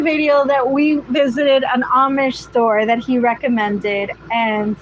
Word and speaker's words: Amish: I always say Amish since it's spelled with an A, but it's Amish.